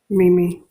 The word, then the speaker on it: Mimi: hear that, Yami meme is that Mimi or meme, by the way? How do you like that to be pronounced? Mimi. Mimi. Okay, my apologies for butchering. But yeah, it's Mimi from now on.